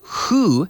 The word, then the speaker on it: who: sound or the word who now it's WH o but we say who and it's as if